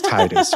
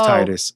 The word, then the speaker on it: Tidus: So I could see that, but no, it's Tidus, right? Especially when you consider that, like, he played Blitzball, he was in the water, tide, it's Tidus.